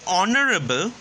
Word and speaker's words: honorable: Same thing, when we say honorable, the sound which comes is on, honorable, on, O, which is your vowel, and H is a silent letter.